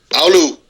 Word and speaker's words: Oulu: Spell it. Oulu. Okay. Oulu.